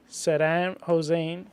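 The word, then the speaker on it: Saddam Hussein: Will Center heavily on Gulf War around 1991 Sadam hosein is that right orose yeah you said it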